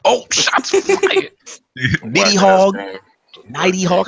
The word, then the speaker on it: Nidhogg: Nighty Hog. How do you pronounce Nighty Hog? Nidhogg.